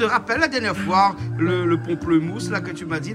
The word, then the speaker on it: pamplemousse: Voilà, pamplemousse, hein, voilà. Oui, parce que moi, je prononce pas le... comme il a dit. Ben oui, à Madagascar, on prononce pas pareil que la Réunion.